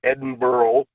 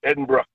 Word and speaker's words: Edinburgh: learn how to say it's not Edinboro it's Edinbrook there you go I'm going